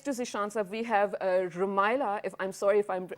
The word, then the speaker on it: Rumaila: Rumela, right? Yeah. I'm so sorry for mispronouncing that's it.